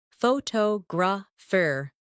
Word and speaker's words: photographer: In English, some words are pronounced with extra emphasis on one part. For example, photograph, photographer, and photographic. The stress moves and that changes the sound.